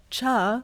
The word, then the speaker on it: cha: And so like the Gujarati way of saying chai is cha.